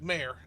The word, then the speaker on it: myrrh: The poem is meant to rhyme, which means the author pronounces myrrh like mare.